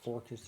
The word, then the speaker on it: Forcus: Forcus, you can't trust him. I You wanna should have been a hunt for Sporcus. Forcus. It rhymes with Hunt for Orcus. Forcus.